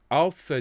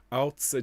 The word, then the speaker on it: Außer: That little symbol there that looks like a capital B. That's the SZ, and that's pronounced with quite a harsh tz at the front of the mouth. Außer dir soll mir auf Erden.